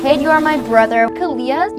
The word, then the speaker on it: Kalia: Kalia, your name rhymes with onomatopoeia.